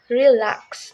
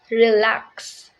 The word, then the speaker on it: relax: on the second syllable for example the relax the stress is on the second syllable LAX so we called it relax not relax number two is the